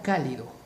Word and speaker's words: cálido: Como por ejemplo la palabra cálido, mayor fuerza de voz en K. Porque si la mayor fuerza de voz estuviese en li, se pronunciaría cálido.